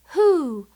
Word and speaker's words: who: So, WH can really sound like the W is silent, just the H sound, as in who.